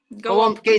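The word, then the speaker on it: gołąbki: Golmaki. See, I can't say it. Golmaki or black pudding?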